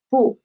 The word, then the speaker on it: 不: And the second character is the neutral tone. We cannot see a tone mark here, so it is a neutral tone. So we should pronounce it soft and quick. So it is 不.